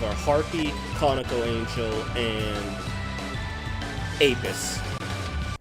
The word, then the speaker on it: Apis: It's like the only early game demons I can think of are Harpy, Conical Angel, and Apis. Or Apis, how it's pronounced.